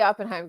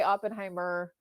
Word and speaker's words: Oppenheim: No, so it's the Oppenheim group, but it's okay. Oppenhei How do you say it again? Oppenheim. Oppenheim. Sorry, guys. It's Sorry, okay. guys. Everyone Sorry. says Sorry. no, it's okay. People say Oppenheimer too, and I'm just like, there's no ER.